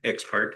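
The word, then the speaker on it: ex parte: Question arose in my mind as I read this in the exparte.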